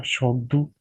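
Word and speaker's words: Tshogdu: Turkey grand national assembly हमने पढ़ लिया, नेदरलैंड स्टेट्स जनरल, और इसी तरह नेपाल राष्ट्रीय पंचायत, भूटान का शोगदू टी साइलेंट है, Micronesia Congress of federating states of Micronesia, Iceland एल्थिंग, लटविया सेमा, और इटली पार्लिमेंटो इटालियनो।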